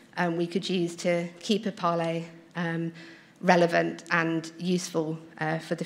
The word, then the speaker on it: EPALE: can see, I say I've always said EPALE, even when I've not been involved in EPALE, but I know other people have always said EPAL. So if you say EPALE, if you pronounce it EPALE, could you put your hands up? Okay, and what about EPAL? Okay. I shall carry on saying EPALE then with confidence.